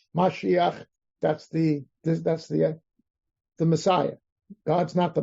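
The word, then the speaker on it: מָשִׁיחַ: is God desire mosia that's not mosia that's a misin mispronounced word of mashiach that's the that's the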